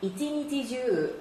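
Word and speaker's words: 一日中: 몽중 할 때 이 중자를 한자 음으로 읽으면 주라고 읽기도 하고 추라고 읽기도 한다고 했는데, 자, 주라고 읽으면 줄곧 전체 내내의 뜻입니다. 이찌니지주 하루 종일이란 말이죠.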